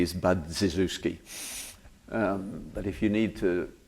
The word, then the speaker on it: Budziszewski: His name is Budziszewski, which phonetically is Budziszewski.